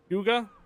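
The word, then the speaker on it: Hyūga: Black Friday ships huge Huga so it's Huga H part pronounce same as huge so Huga Huga huh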